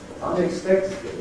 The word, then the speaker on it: unexpectedly: These are double stress words. Unexpectedly, we showed in the dictionary, two stresses.